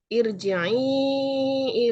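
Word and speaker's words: ارجعي: Jadi ir membacanya tipis, mad jaiz munfasil dan mad asli. Huruf ro dibaca tarkik karena disukun oleh huruf yang berharokat kasroh.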